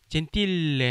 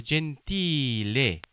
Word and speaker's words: gentile: 이거 역시 L 하나입니다. 조심하셔야 돼요. 젠틸레 하지 마시고 젠틸레, 젠틸레. L에 살짝 강세를 주시는데 그 L 앞에 이 발음을 조금만 길게 하시면 될것 같아요.